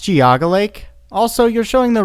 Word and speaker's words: Geauga: Big Dipper located in Bainbridge Township Ohio the giggle a cam use Makara giggling giggling hmm it's pronounced Geauga Lake also you're showing the wrong Big Dipper